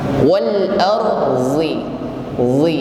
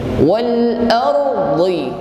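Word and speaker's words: وَالْأَرْضِ: Wal arzi, ya, kalau pakai ujung lidah. Namun huruf bod diucapkan dengan lidah bagian samping, maka bunyinya akan menebal. Wal ardi, ya, tepi lidah menyentuh gigi geraham atas.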